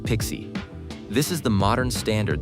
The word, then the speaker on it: PKCE: Authorization code with PKCE, pronounced Pixie.